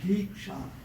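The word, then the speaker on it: दीक्षा: The term is said as Diksha. 2 syllables.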